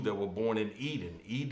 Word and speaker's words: Eden: Edin is the spelling of the word Eden in the Lost Book of Enki, okay, which is the Anunnaki book, okay, but we call it Eden, but it's the same pronunciation, Eden.